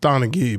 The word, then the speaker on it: Donaghy: His name is spelled Tim, obviously, and then Donaghy. It's Donaghy, but I like Donaghy.